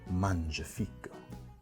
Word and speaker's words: Mangiafico: And really, I just wanted to say that because I know how to pronounce his name right now, and I'm really proud of that. So, gotta say it. Mangiafico.